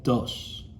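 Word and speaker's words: does: Do-es se escribe, se pronuncia dos.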